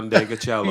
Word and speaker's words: Ndegeocello: Michelle Ndegeocello.